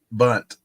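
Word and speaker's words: Bundt: Well, how do you say that word? Bunt? Is it just bunt? Bunt. You want to make some bunt pan recipes? Yeah, just like baseball. Bunt.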